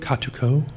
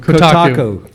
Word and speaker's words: Kotaku: According to Kotaku. Kotaku. I go to that site all the time, and I always pronounce it wrong. Kotaku.